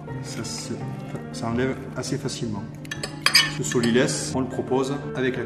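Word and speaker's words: sot-l'y-laisse: Il y a 2 morceaux de chaque côté de la carcasse du poulet, ce qu'on appelle le solilès. Alors pourquoi le solilès? Ça s'écrit S-O-T, plus loin L apostrophe Y, laisse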